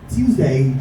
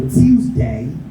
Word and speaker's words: Tuesday: Tuesday has 2 to 3 pronunciations. You could either say tew or choose. Both are right. So Tuesday or Tuesday.